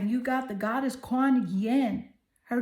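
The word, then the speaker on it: Kuan Yin: You got the goddess Quan Yen. Her name is spelled K U A N Y I N.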